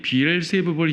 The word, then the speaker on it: 비엘세붑: 그는 마귀들의 우두머리인 비엘세붑을 힘입어 마귀들을 쫓아낸다. 여러분 킹제임스 성경에는 비엘세붑 돼 있어요. 다른 성경에 비엘세불 돼 있죠. 관계없어요. 발음 차이일 뿐이에요. 발음 차이.